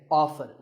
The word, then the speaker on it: often: next up is often some pronounce this as often now strictly speaking often is not wrong but the more common pronunciation is with the T silent so I recommend that you always say often one word that's often